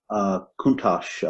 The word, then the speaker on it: Countach: While we're at it, the Lamborghini Countach, is it pronounced Countach, by the way? Countach.